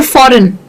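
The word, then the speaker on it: foreign: तो किसी भी वर्ड में जी के आगे एन जाता है जैसे फॉरेन। ठीक है? तो हम जी को बोलते ही नहीं है। हम उसको साइलेंट कर देते हैं।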